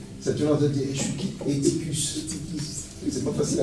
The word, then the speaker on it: Eutychus: Ça te demande de dire Eutychus. C'est pas facile à prononcer. Hein. Ou Eutychus, c'est plus simple aussi.